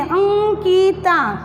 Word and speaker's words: अंकिता: हो अंकिता, तो अंकिता, तो ये अनुस्वार का उच्चारण भी अलग अलग तरीके से होता है, किसी में म भी होता है, किसी में न भी होता है। जैसे इसमें लिखा मैंने अंकिता, अंकित लिख दिया, सुई बने, अंकित भी बनता है अंकिता। तो ये नाक से यहाँ पे झंझनाहट होती है थोड़ा बोलने में, अंकिता। तो इसका न जैसा उच्चारण होता है।